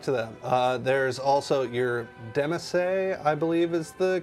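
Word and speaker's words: demesne: There's also your demesse, I believe is the correct pronunciation.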